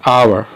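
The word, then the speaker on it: hour: यहाँ पे एच ओ यू आर, इसका प्रोनाउंसिएशन कैसे होता है, आवर, इसका हावर नहीं होता।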